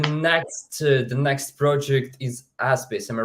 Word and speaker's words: Aspis: here so the next the next project is aspace am I right am I pronouncing in right aspis yeah yeah so uh the name of the